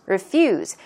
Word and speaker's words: refuse: on to to refuse refuse the stress goes on the second syllable refuse means to decline